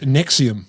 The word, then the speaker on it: NXIVM: nxivm cult which is pronounced Nexium like the famous anti-gastric reflux drug NX I VM so